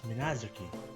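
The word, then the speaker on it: Minaduki: It says that the the written words is the written word says Minazoki, but when they pronounce it, it's Minazuki.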